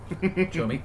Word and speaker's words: Xiaomi: Xiaomi is one of those where I only know how to pronounce it because I've seen a pronunciation key, but it's show-me, and I'm like, that could be pronounced multiple ways.